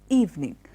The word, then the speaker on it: evening: have seen so many people add an extra syllable in the end it is not evening it is evening evening you don't have a ticket oh you died